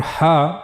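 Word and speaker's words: ح: But for ha we have to use the middle of the throat.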